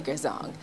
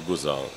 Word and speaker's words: Gourzong: Okay, so they added the R, so it's really Gourzong. Okay. And then the R came in, so some people call me Gourzong, others the R is silent, so so it remains right.